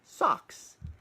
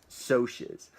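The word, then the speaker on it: Socs: I had to Google how do you pronounce s OCS because that's how it's written in the book and in your head you want to say socks and actually Ponyboy in the book says I don't even really know how to pronounce it but I'm gonna use so she's so Ponyboy main character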